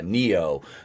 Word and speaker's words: Neo: Floyd of Fentanyl, or if you pay attention to the community tab, Neo, the star of the new Matrix movie, to show up. That's spelled Knee-O, Neo.